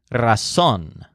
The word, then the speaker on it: razón: word for reason is her son with a stress on son this word is used